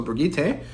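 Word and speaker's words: Birgitte: so I guess um I'm gonna say it like they say it in OverWatch so brigite and um then uh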